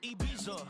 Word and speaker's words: Ibiza: Yeah, it's pronounced Ibiza, actually. Yeah. What's the difference, man? Ibiza, Ibiza, you won't see me in neither.